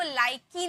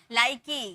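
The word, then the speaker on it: like: है नहीं लाइक इसको लाइकी नहीं पढ़ेंगे लाइक की नहीं लाइकी गिववी बाइक की लाइक ऐसे नहीं पढ़ेंगे ठीक है ई का कोई साउंड नहीं होता है तो लाइक गिव बाइक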